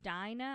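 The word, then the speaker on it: Dinah: had one daughter and her name was Dina I'm going to pronounce it that way it's d i n a h and that's the only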